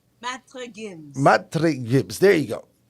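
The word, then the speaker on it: Maître Gims: Matai Gims? I don't want to mispronounce. Matre Gims.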